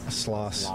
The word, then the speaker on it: Stanislaus: Now, do you say Stanislaw or Stanislaus? Sloss. Yeah. You do? I guess, yeah. Okay. There is an S on the end, but, you know, some would say the S is silent.